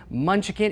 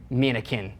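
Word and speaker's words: Mnuchin: Both Treasury Secretary Stephen Munchkin, is that his name? Oh, yeah, Munchkin. And do you know how to say it? Minikin.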